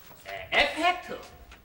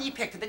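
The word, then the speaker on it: effect: 에펙트. 오리지널 발음은 이펙트인데 이제 우리 사람들은 에펙트, 효과.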